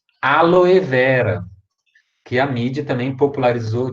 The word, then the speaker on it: Aloe vera: que me perguntaram também prazer nem é o aloe vera que a mídia também popularizou de forma errada